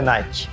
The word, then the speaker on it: Nike: ама не сте прави името идва от гръцката богиня на победата ники а компанията официално използва произношението nike тоест може да си му казвате nike ники или както искате но правилото е найки та след като се